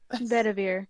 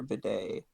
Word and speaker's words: Bedivere: How many times have you mispronounced Bedver. Sir Bidet? Sir Bedivere.